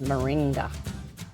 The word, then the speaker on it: moringa: I apologize for saying it pronouncing it wrong earlier. It's moringa.